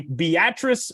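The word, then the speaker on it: Beatrice: Josh tackles uh a team from the Corn Husker State, the Beatatric Milk Skimmers. Uh and that is the way that you pronounce that town's name.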